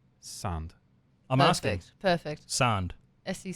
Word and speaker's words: Sand: Sand.